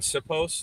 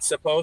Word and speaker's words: Sipos: fixed the issue with aaron sipos that's how you say it i was told to say it correctly i don't know what the hell it is but i've been called repeatedly at sippo so anyway apparently he